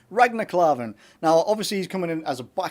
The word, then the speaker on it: Ragnar Klavan: Ragnar Klavan.